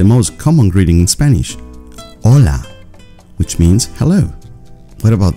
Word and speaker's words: hola: Remember, it's not hola or hola, it is hola.